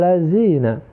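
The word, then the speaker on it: الَّذِينَ: share Alphard lazim racikan ketika kita membaca huruf Zal setelah itu banyak kita jumpai di masyarakat kita ketika membaca huruf hal mereka membacanya justru Zaya sirotol ladzina Nah itu keliru ya Coba kita buka Hai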